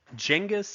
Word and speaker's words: Genghis: Genghis is probably the closest pronunciation to correct of his name.